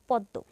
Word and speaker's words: পদ্ম: শেষে বর্ণটা হচ্ছে দ তাহলে দ এর দৃত্ত উচ্চারণ হবে পদ্ম ঠিক এরকম বিস্ময় এখানে পদের মাঝে ম ফল